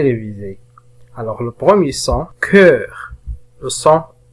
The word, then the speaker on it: cœur: Alors le premier son, nous avons le son E, cœur. إذا كان لدينا هنا حرف O ملتصقا مع E و U فإنهم جميعا ينطقون ب E.